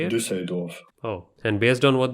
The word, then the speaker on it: Düsseldorf: Düsseldorf.